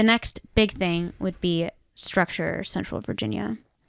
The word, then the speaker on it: Struxure: But the next big thing would be Structure, Central Virginia. Oh, Structure is spelled Struxure.